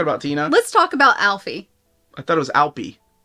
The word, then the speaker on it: Alpi: I think I pronounced it Alfie, but Alpi.